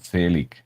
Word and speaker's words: Zelig: It's pronounced Zelig.